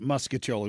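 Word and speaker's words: mostaccioli: I thought in St. Louis it was muscoli. Everybody pronounces it muskoli.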